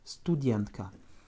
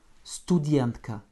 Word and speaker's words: студентка: Donc comme tout à l'heure, le U ne change pas et le A en finale va se prononcer presque comme un petit E. Это студентка. Studientka. Еще раз. Studientka.